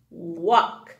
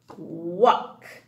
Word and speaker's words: walk: I, night, and all, ball, and ock, walk. The L is silent. Ock, walk.